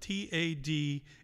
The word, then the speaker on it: Tadhg: Tadhg, by the way, is spelled T-A-D-H-G.